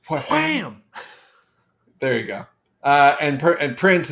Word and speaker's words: Wham!: It was everywhere, everything, in a way that as much as like Wham, how was it pronounced? Wham!